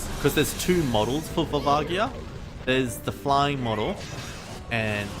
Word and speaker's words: Volvagia: way o um yeah I pronounced it vagia but you're probably right it probably is volvagia just I always pronounced it um with the soft G I I used to